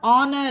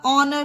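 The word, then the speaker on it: honour: H silent रहता है एच ओ एन ओ और ऑनर मीन सम्मान एच के बाद ओ आया तो इसमें हा प्रोनाउंस नहीं होगा ऑनर होगा उसी तरह जी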